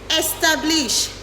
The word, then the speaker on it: establish: Remember to use the i sound at the beginning of these words.